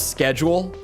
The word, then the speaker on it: schedule: That's one of the weirder, like differences in pronunciation in English is schedule. I've never understood that one. Like, where does that even come from? Where does the Where does the cuss sound go?